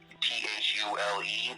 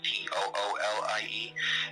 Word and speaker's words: Thule: call themselves the Thule, like Thule, but pronounced Toolie.